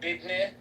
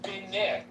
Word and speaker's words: business: No, bidne, where you put a D in it. Bidne. Is it because they have a gap between their teeth? And then another way of saying it is binit. B-I-N-I is another pronunciation of business.